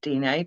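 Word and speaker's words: Diné: Navajo language, I believe, is Dine, Dine, with an acute accent. Yeah, acute accent on the E. So I think it's pronounced Dine, but I'm not sure. And I'd not heard of Pat McCabe before.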